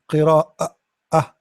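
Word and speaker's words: قراءة: Now, how we pronounce the Hamza? Qira'ah, qira'ah.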